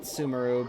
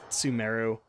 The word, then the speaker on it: Sumeru: I still want to call it Sumeru, but it's Sumeru. They have pronounced it.